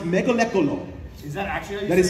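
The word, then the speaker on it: Mgalekgolo: it's like five it is Mega it is pronounced mealo is that actually how you that is how you pronounce it it's mealo and they said they said that I'm like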